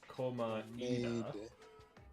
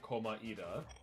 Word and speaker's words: Komaeda: If you play the English version, he says Komaeda with a Komaeda. two syllables, while people in Japanese version say Komaeda. So it's Komaeda.